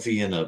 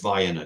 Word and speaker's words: Vienna: down in Vienna Georgia it's spelled like Vienna but it's Vienna because it's Georgia uh I mean we